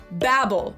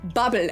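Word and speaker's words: Babbel: Not the one with the owl, the other one, Babel or Babel as it's pronounced in the original German because this company was also founded in Berlin, Germany in 2007.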